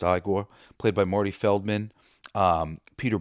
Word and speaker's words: Igor: Frederick Frankenstein, as played by Gene Wilder, with Igor, no, it's pronounced Igor, played by Marty Feldman,